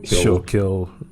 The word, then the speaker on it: Schuylkill: I don't know how to pronounce it exactly, but it's like Kill. Schuylkill River.